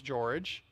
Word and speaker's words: Jorge: Well, tell- His name was George, Spelled like Jorge, though.